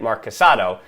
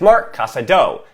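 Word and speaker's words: Marc Casadó: I've been saying, well, I said Marc Casado, but it's Marc Casado. I was ignoring that accent on the O, and I've learned after 3 years how to say it properly.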